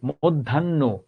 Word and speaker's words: মধ্যাহ্ন: আমরা বলি মধ্যাহ্ন, চিহ্ন, পূর্বাহ্ন, ন, চিহ্ন, মধ্যাহ্ন, পূর্বাহ্ন। অর্থাৎ এখানে এই নটা মহাপ্রাণ হবে।